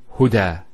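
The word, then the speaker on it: هدى: Now this is not actually a ya, it's an alif. It's called an alif maqsura, and it's exactly like an alif, the way it's pronounced. It's like a ya, without the two dots.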